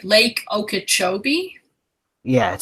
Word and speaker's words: Okeechobee: I hope so because I'm not too good with pronouncing things, but it looks like Lake Okeechobee.